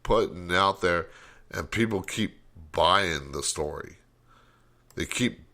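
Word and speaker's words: Kyiv: know why i want i always want to say camp but it's keep look at keeve live on youtube i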